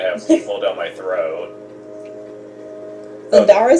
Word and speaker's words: Thundara: Well, time to use Thundera then. Excuse me, Thundara. Gotta pronounce it right, otherwise you're gonna have people down my throat. Thundara sounds like an epic area.